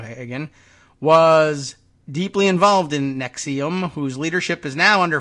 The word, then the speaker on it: NXIVM: This is how this is pronounced, just like the medication, Nexium, but it is spelled in all capital letters as Nxivm.